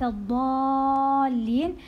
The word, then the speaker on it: الضالين: طبعا هنا لدينا تنبيه: عند نطق كلمة الضالين فهي بحرف الضاد وليست بحرف الضاء، فالضالين طبعا هنا خطأ، هم الدائمون والماكثون، أما الضالين فمعنى المائلون عن الحق.